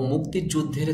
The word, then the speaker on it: মুক্তিযুদ্ধের: আমরা দেখতে পাচ্ছি মুক্তিযুদ্ধের শব্দটির সঠিক উচ্চারণ হবে মুক্তি যুদ্ধের অনেকে আমরা বলি মুক্তিযুদ্ধের যুদ্ধের বললে হবে না দের বললে হবে না আপনাকে বলতে হবে যুদ্ধের ধের বলতে হবে কেননা এখানে একটি ধ এসেছে দর নিচে আমরা একটি